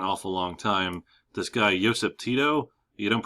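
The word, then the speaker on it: Josip: this Slavic language well you don't pronounce it like we do you pronounce it like a y so it's ysep Tito uh he rules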